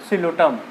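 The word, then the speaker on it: Psilotum: सिलोटम, P silent है, सिलोटम इसको बोलते हैं, ठीक है।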